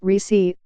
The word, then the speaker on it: Recy: Abbeville in southeastern Alabama recce pronounced Ricci Corbett found herself caring